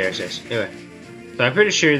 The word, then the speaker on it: Arceus: That's how I say his name, people. Arceus. Or they. I don't say Arceus or Arceus or whatever.